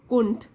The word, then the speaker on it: couldn't: माया couldn't bear, वैसे जब इसको हम जल्दी से बोलते हैं प्रोनाउंस करेंगे तो डी साइलेंट हो जाएगा, कुंठ।